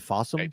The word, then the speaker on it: Fawsome: It looks like it's on some streaming channels like Fawsome and is that how you say it? Fossome.